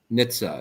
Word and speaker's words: Nitze: name last name is uh how do i pronounce it nitsa it's n-i-t-z-e and i-t-z okay so little nitza there's amazing amazing content on linkedin um and